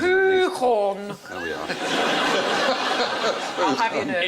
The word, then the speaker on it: Gauguin: Oh, it's not pronounced Gauguin. Hey. You've got two G's. at least. Gauguin.